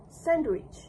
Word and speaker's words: sandwich: In this standard form, the word include includes the consonant D between the N and W sounds making it sandwich. Sandwich. This is considered the citation form used in careful or dictionary style pronunciation. When the participant pronounced the word, it was heard as sandwich. Sandwich. In this version, the D sound is missing.